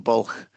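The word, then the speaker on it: Bwlch: first things is it's a great Welsh word because it's got no vowels in, from an English point of view, and so it's impossible for people to pronounce.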